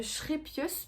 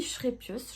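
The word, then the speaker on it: Scheepjes: Et j'ai pris une pelote de la marque Schrepius, parce que ça se dit Schrepius.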